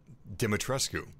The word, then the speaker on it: Dimitrescu: romanian people it should be pronounced uh dimitrescu so maybe ethan's getting it wrong anyway welcome to resident